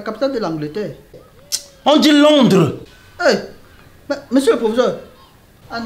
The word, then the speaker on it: Londres: On dit Londres.